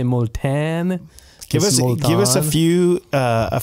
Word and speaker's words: Multan: that and they're going to like how I spell that somebody who's listening though might know molan m u l t a n okay so you might say molan give us give us a few uh a